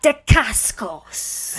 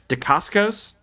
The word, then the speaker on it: Dacascos: Mark Dacascos.